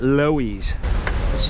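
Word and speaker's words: Loews: yet to see so here's the lows we just have movie theaters in New York spelled the same way but everybody called it Louise I'm walking I gotta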